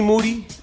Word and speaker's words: Moody: in here with moody last name rhymes with duty you resented that when